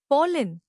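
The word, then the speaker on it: pollen: पोलन नया लफ्ज पॉलिन इसको तोड़ते हैं पोले जोर पॉल पर है।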